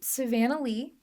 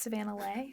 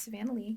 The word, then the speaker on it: Savanna Leigh: music feel free to let them know um Savanah Lee that's how it's pronounced sometimes it's Savannah Le but it's Savannah Lee guys uh Savannah with no h at the